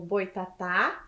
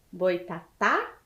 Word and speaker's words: Boitatá: lá com a professora são palavras oxítonas o Boitatá e José por quê Porque elas têm a última sílaba tônica e recebem o assento gráfico as palavras oxítonas terminadas em a as e es o os em e ens então prestem atenção Boitatá e José então é a última sílaba tônica do Boitatá e de José certo Então as palavras oxítonas